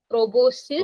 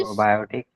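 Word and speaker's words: proboscis: सबसे पहला आता है प्रोबोस्किस, सबसे पहला आता है प्रोबोसिस। प्रोबायोटिक, नो, इसकी प्रोनाउंसिएशन प्रॉपर प्रोबोसिस।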